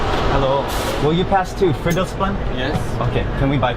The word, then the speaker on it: Fridolfsplan: I think I was pronouncing that wrong earlier. Fridolfsplan. I think that's how you say it.